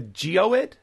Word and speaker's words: geoid: So I guess the next question that would follow from that is, what is, I believe it's pronounced the geoid?